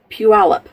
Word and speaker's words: Puyallup: you'll understand why I'm laughing too out it's pronounced Puyallup anyway so much my brother's house had a